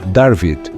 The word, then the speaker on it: David: que na escrita fenícia o nome David era pronunciado como darvid mantendo sua essência mas com traços e sons distintos do hebraico moderno esta interpretação confere um